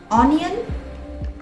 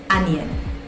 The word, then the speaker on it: onion: Onion. It's onion.